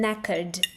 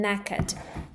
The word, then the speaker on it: knackered: And I'm knackered. I'm knackered. Pay attention that in knackered we don't say K here because K before N is silent.